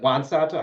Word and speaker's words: Juan Soto: Corbs, even though I don't follow baseball anymore, do you think it's a fair assessment that Juan Soto, is it Juan Soto?